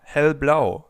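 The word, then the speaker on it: hellblau: Then in the middle of our rainbow we have green or green which is followed by turquoise tis or hell blau light blue.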